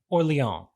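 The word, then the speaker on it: Orléans: easier than well um you could say or Leon no no no the French pronunciation I'm not saying it like with the correct accent but or Leon would be the I will leave it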